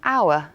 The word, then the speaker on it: hour: A silent film 就是无声电影。The letter H in hour is silent.